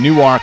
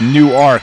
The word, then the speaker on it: Newark: gaudier a freshman from Newark Delaware learned a couple years ago its new Ark not Newark and if you call